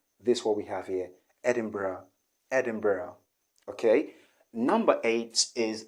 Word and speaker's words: Edinburgh: which is also wrong the right pronunciation here okay is edin edinburgh edinburgh not edinboro not the o not o but edinburgh edinburgh or you can also say edinburgh edinburgh which is really british okay in british english